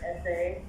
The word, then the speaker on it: ese: for the ancestors, and it said the word essay. I'm not sure how to pronounce it.